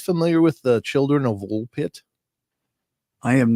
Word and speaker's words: Woolpit: old story over in woolpit England and uh and it's absolutely bizar but uh how do you spell that W LP T just like it sounds pit okay right all